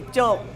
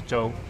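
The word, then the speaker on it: 粥: In Chinese, I say juk. Juk's the Cantonese pronunciation. Mandarin is zhou.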